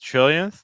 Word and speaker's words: trillionth: So these words, millionth, billionth, trillionth, they're finishing with that yin sound. The stress is on the first syllable.